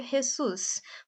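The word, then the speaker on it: Jesús: México eles falam espanhol então no México se pronuncia jessus por isso que ele pronunciou com esse som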